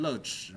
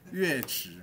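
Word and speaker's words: 樂池: 好，不要念成乐池，好不好？这是破音字，乐池。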